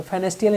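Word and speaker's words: Pfannenstiel: फेनेयर फेनेट incision incision P silent होता है फेनेल incision बोलते हैं ये कब यूज होता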